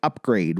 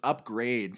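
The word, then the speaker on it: Upgrayedd: love how it's so it's upgrade but it's not it's spelled like u p g r a y e d d double d double d for a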